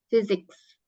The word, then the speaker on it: physics: fisika fisika fisik jadi P ketemu H itu baca fisik fisik fisika fisik bacanya physics ya fisika artinya nah kemudian